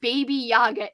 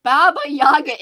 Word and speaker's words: Baba Yaga: way Crystal answers what baby Yaga I'm sorry Baba Yaga is I'm doing it again I'm saying it wrong it's from Slavic folk